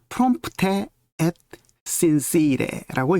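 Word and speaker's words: prompte et sincere: 밑에 있는이 세 단어인데요 프롬프테 엣 신씨래라고 읽습니다 프롬프테 그대로 읽으면 되죠 프롬프테 엣 신씨래 액트는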